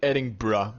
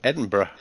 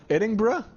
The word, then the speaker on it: Edinburgh: I'm refused to say adding bruh because Edinburgh it just sounds weird it's not how it's pronounced Edinburgh Edinburgh edin Edinburgh Edinburgh without the G just adding you don't